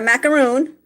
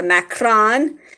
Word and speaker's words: macaron: I had another macaron, not a macaroon. Macaroons are the coconut mounds with chocolate underneath them. This is a macaron, as I heard someone in France kind of pronounce it that way.